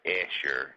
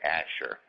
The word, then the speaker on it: Asher: that's an aser Bob says aser we say Asher because it actually applies into one of the tribes of Israel one the original 12 tribes well actually there's 13